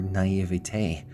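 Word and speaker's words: naïveté: Your naivety, or naivete, I think that's the proper way to pronounce it, is probably something you should invest more time in.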